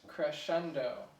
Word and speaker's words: crescendo: So uh it's actually pronounced crescendo.